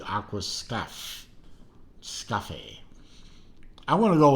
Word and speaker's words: Aquascaphe: one of their Aquascape Aquascape spelled with an extra H in the uh in the word for some reason I don't know but I I think it's a pronounced Aquascape it might be Aqua stuff scuffy I want to